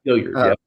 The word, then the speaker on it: Hilliard: Hilliard? Is that how you say his name? Yep, Hilliard, He's great.